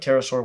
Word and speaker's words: pterosaur: May the best, most athletic pterosaur win. Silent fact. In the word pterosaur, do not pronounce the P.